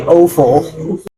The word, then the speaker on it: offal: I would say offal, which is easy to remember because it rhymes with awful.